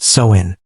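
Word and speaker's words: Samhain: And the most powerful night of the year was October 31st, the festival of Sin, pronounced Soin.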